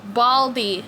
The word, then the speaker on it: Baldi: It's spelled with the D, not a T. You got it wrong. Baldy, okay?